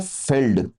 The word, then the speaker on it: fjeld: इसको बोलते हैं फेल्ड, FJELD है, बट इसको बोलते हैं फेल्ड।